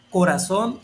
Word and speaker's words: corazón: Canción, corazón y alemán. Aquí, como puedes darte cuenta, termina en consonante N y como dice ahí, palabras que terminen en consonante N lleva acento en la última vocal o última sílaba y